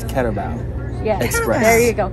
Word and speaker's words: Carabao: I was going to say I'm glad she's here because she finally explained how to say the name of the restaurant. I've been butchering it the whole time, and it's Carabao.